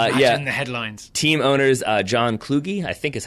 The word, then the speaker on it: Kluge: soccer club yep yeah headlines team owners John Kluge I think is how you pronounce that and Stuart's about Nick instead named